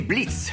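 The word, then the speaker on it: Blitzø: les dialogues je suis Blitz le haut ne se prononce pas je suis sûr et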